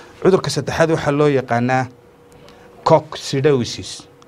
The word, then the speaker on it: coccidiosis: Cudurka saddexaad waxa loo yaqaanaa coccidiosis. Cock. The proper pronunciation of this biological term is cock.